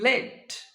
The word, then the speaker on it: lead: When this word functions as a noun, pronunciation will be led.